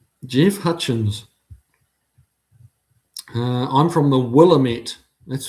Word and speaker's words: Willamette: I'm from the Willamette. That's how I'd pronounce it.